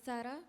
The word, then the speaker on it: Sara: they can hear you it's the same as Sarah but we pronounce it as SAR and and and your